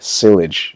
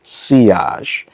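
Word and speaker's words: sillage: When it comes to the they I was saying it wrong in the first video. I said silage but I found out that it's seage.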